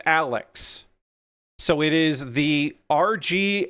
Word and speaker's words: ARX: It is spelled RGXARX-0, but apparently the first X is silent, and the ARX is pronounced Alex.